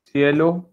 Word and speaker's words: cielo: If C is followed by E and I. It is pronounced as sir. Sir की आवाज आएगी. Example, cielo और cero.